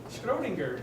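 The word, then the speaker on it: Schrödinger: Schrodinger, that's how I pronounce it. Okay. But there are many different ways, probably as many as the interpretations of quantum mechanics.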